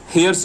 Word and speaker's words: hair: This HAIR, you cannot sound like air.